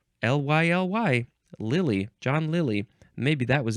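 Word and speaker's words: Lyly: I don't know how to pronounce that. Euphues, which was a character in prose romances by John... Is that Lilly? L-Y-L-Y. Lilly.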